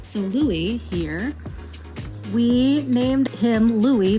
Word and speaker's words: Louis: Louis is 13, but I mean, a lot of people confuse his name by looking at it because of how it's spelled. People call him Louis, but it is indeed Louis.